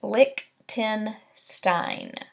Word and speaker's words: Lichtenstein: So pronounced Lichtenstein.